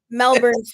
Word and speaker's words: Melbourne: Melbourne, Florida. Right, okay. Pronounced the same as Ben Rankin's Melbourne.